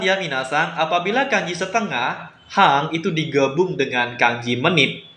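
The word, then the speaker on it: 半: Kemudian ada kanji setengah yaitu hang.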